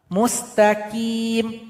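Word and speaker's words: مستقيم: Huruf qof keluar dari pangkal lidah. Namun suara harus dinaikkan ke langit-langit. TI. Tidak boleh qi seperti huruf kaf. Salah. Mustaqim. Enggak boleh mustaqim, tapi mustaqimi. Jadi keluar dari pangkal lidah, suara naik ke langit-langit kita.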